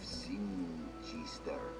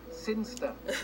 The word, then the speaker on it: Sinchester: But Elliot Thomas was still stuck down on Earth in the boring town of Sinchester. Sinster. What? It's pronounced Sinster.